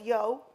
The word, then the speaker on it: Yeo: brand goals was to get people saying the brand name right. So that's why it's Yeo so that everyone would say Yeo rather than Yeo, or however people are pronouncing, which that's just genius there by itself.